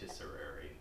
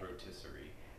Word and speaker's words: rotisserie: to say that rotisserie no rotisserie Ro there's no Airy rotisserie rotisserie rotisserie okay